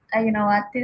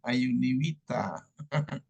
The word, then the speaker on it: Ayunawati: Nabila Ayuni Wita. Ayunawati Ustaz. Oh, Ayunawati. Saya bacanya Ayuni Wita.